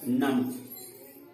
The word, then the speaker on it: नमः: नम में जैसे हम यह विसर्ग दिए, क्या हम इसे बोलेंगे? अब इसे हम ह के रूप में बोलेंगे। ह का उच्चारण करेंगे म के बाद वह क्या होगा, नमः।